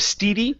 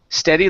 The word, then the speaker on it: steady: So it's instead of steady, this is steady like instead. Okay.